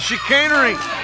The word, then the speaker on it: chicanery: Very nice, chicanery. 3 syllables, Bull.